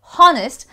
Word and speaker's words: honest: Well, this is the few words, this is one of the very few words where H is silent and you straight away go to the honest sign, honest word. So you don't say honest, I am an honest man.